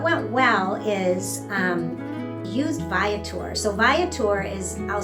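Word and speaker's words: Viator: But anyway, what went well is um used ViTour. So ViTour is I'll spell it V I A T O R.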